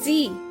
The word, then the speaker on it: Sie: will use the word sie. S-I-E. It is the spelling of that word, sie. So it is pronounced like the English word sie, with a soft Z sound like in zebra.